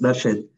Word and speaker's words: Darshit: And last but not least, Darshit, is that how you say it? Yes, it's Darshit.